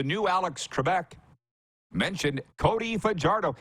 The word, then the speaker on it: Fajardo: And the host, the new Alex Trebek, mentioned Cody Fajardo. He even said it right. He didn't say Fajardo like so many people do.